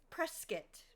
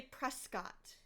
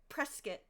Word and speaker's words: Prescott: Prescuit. Anybody who's outside Arizona would say Prescott. But if you're a native Arizonan, Prescuit.